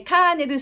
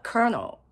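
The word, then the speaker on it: colonel: サンダースですねえカーネルっていう風に私たちは言いますけれども実際の発音はカノですでえコロネルじゃないのて思った人いると思うんですがこのね LO はどこにもないんですよでしかもなぜ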